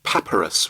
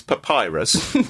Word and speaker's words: papyrus: by the fact that you say papus rather than Papyrus you say Papyrus well it's what I say but the number of times I've been criticized for my pronunciation on this podcast with cesia and other words I I I hate to bring it up but I I feel I should say something surely it's Papyrus um since we're going